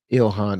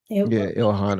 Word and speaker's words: Ilhan: He's the prime minister of Somalia, and he gave a speech, and he was praising Ilhan Omar.